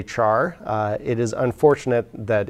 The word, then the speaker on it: char: unfortunate another unfortunate abbreviation char is of course spelled as though it were pronounced char but character does not begin with the syllable char so some people actually pronounce this car or care most people just say